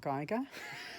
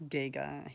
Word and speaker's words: Giger: like it's not Geiger it's Giga Jesus and um uh yeah